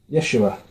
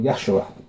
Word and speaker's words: Yeshua: Yeshua, or Yahshua, depending on how you want to pronounce it.